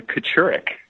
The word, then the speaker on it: Kachurick: name how do you pronounce it it is pronounced it is Kocurek Kocurek so it doesn't even look like that